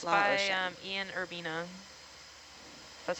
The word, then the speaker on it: Ian Urbina: Ian Urbina. That's how you pronounce his name.